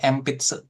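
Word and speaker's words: enpitsu: Kalau ada N-nya tuh terletak di depan huruf B, huruf P, huruf M gitu ya. Nah, itu dibacanya empits ya.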